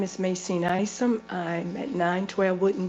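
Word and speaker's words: Macene: Macina? Macine. Okay, Macine Isom.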